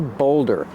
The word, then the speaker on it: boulder: It's called a boulder. This is a boulder. How do you pronounce boulder? Boulder. Use a long O like cold and told. Bold. Boulder.